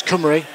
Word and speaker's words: Cymru: has instructed me on uh on how to pronounce cumy so you've got a beautiful collection of synthesizers